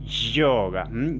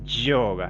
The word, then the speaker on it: yoga: Tienen que presionar los bordes de la lengua, como yoga, yoga, no es ni I ni sh. Es un poquito un término ahí intermedio.